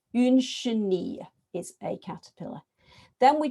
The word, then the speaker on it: chenille: I'm introducing this word, by the way, because it's got the double L in, because they haven't done the y, double L, y.